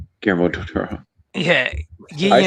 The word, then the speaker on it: Guillermo del Toro: I don't think That's it's Guillermo del Toro.